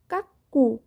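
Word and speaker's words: cuckoo: এরপরে দেখো কাকু, সি ইউ সি কে, কাক।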